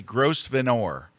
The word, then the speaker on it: Grosvenor: How do you pronounce it? The Grosvenor House. Okay, it's actually Grosvenor. So is it? Do phonetics exist in the UK?